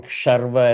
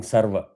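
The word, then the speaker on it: शर्व: You keep saying sarva. One mispronunciation, the meaning itself changes. Because the first word is sarva. Sarva means all. Sharva means the auspicious destroyer.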